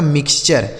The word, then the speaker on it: mixture: आगे देखिए, अब यहाँ देखिए लिखा है MIXTURE, तो MIX दोस्तों हो गया मिक्स, क्या हो गया MIX से हो गया मिक्स, और TURE का उच्चारण क्या हो गया चर, यह लिखा गया आपका मिक्सचर। क्या लिखा है मिक्सचर, ठीक है, इसे पढ़ा जाएगा मिक्सचर।